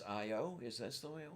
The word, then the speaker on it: Io: I guess I guess the Priestess is EO in the Moon is IO is this the way